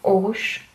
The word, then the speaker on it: Aarhus: En tout cas, les gens que je vois ici dans la ville dans laquelle je suis, qui s'appelle Aarhus, qui se prononce Aarhus.